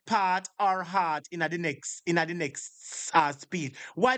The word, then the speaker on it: HEART: Now, the proper pronunciation is HEART, H-E-A-R-T, HEART Trust.